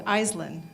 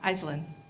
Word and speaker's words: Aislinn: She said, it's Aislinn. Aislinn. Thank you. Could you spell that for me for the book?